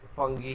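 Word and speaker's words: fungi: आई am comfortable with फंगी and Google भी फंगी ही बताता है, तो हम लोग फंगी पे चलेंगे। हाँ, बाकी दूसरे प्रोनाउंसिएशंस भी गलत नहीं है, ऐसा नहीं है कि गलत प्रोनाउंसिएशंस है।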